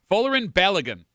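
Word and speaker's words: Folarin Balogun: Uh, the US player who scored two goals against Paraguay, his name is pronounced Folerin Oun. Folerin Balagan. Folerin Balagan.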